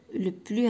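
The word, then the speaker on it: plus: هاد لو بلس منين كيكون من منها مثلا شي ادجيكتيف ما كنطقش هاد الاس هادي. باغ اكزومبل لو بلو رابيد ما كنطقش الاس كنقول لو بلو رابيد.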